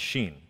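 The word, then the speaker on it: shin: the 21st letter of the hebrew alphabet is pronounced sheen and it's uh that the the picture that's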